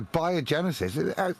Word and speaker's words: biogenesis: The reason I say it like that is because that's how the three components of the actual word are put together. Bio meaning life, genesis, origin. Yeah. So biogenesis, it makes real sense.